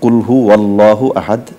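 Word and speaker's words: قل هو الله أحد: তিনি আল্লাহ তো এক্ষেত্রে আমরা একত্রে মিলিয়ে যখন আমরা পড়বো কুল হু ওয়াল্লাহু ওয়াও জবর ওয়া হয় তো কুল হু ওয়াল্লাহু আহাদ এটাই বিশুদ্ধ উচ্চারণ হবে আর দ্বিতীয় বিষয় যেটা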